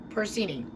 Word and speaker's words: porcini: Which I believe it's actually, and can you pronounce that Porcini? Porcini.